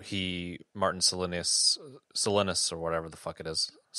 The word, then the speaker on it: Silenus: thought was quite fascinating was how he Martin selinus selinus or whatever the it is selinus oh my God you know how they say it in the audio book how silenus oh that oh it's so